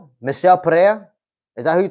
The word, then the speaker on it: Michel: I thought it was as Michael, as in Michael. Nah, it's actually Michelle, like Mitchell, but like Michelle Pereira.